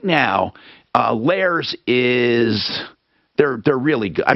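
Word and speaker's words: Lehrer: But Lair, how do you spell it? It's Lair is L-E-H-R-E-R.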